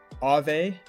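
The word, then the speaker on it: Aave: lenders meet borrowers are ave that's spelled two a a v e yeah right yep that's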